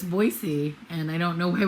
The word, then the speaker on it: Boise: i need to respect that uh that it's voicey and i don't know why we don't just